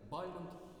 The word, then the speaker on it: Бальмонт: Фамилия поэта Бальмонт имеет 2 варианта произношения. Как известно, можно ее ударять на первый слог, а можно и на последний. Изначально первый вариант – это все-таки Бальмонт, но после того, как поэт много раз бывал за рубежом, в частности во Франции, постепенно закрепилось французское произношение его фамилии с ударением на последний слог.